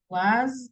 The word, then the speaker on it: was: Was, the pronunciation is like a Z, like una Z, como esa vibración, como que fuera las abejitas.